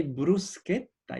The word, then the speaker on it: bruschetta: or good sounds so every time in Italian no exception every time you find the age this C becomes curved the G becomes good so you say Bruce kid that you want to say bruschetta and for the same